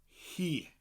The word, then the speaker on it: hi: and follow it by he spelled hi and it often confuses people learning welsh that the word for she in welsh is pronounced he he is she and